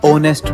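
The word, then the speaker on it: honest: Ma'am जैसे H letter, owner में, आर में, ओनेस्ट में। नहीं बेटा, इनको हम इग्नोर नहीं साइलेंट कंसीडर करते हैं।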